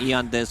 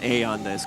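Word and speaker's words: Aeon Disk: removed from the game e on this pronounce a on this go okay smoke around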